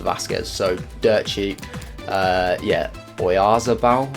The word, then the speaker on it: Oyarzabal: Yeah, Oyarzabal, I think it's pronounced, 1.3k there.